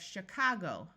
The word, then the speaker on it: Chicago: Here we have the city of Chicago with a long O sound and the O taking the muffled schwa sound again.